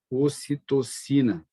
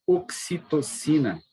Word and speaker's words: ocitocina: Vocês podem também ouvir falar em oxitocina, com X ao invés do C. Tudo bem, não tem problema, é da tradução, né? Que em inglês é oxitocina, tá? Se escreve aqui com X, mas ocitocina.